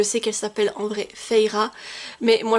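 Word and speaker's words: Feyre: Alors, oui, je sais qu'elle s'appelle en vrai Feira, mais moi, je le prononce à la française quand j'ai lu Acotar à l'époque.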